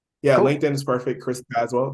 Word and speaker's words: Tazewell: Linkin is perfect Chris aswell yeah LinkedIn is perfect Chris aswell t a z w l l always get a lot of lot of things because the E is silent but yeah link in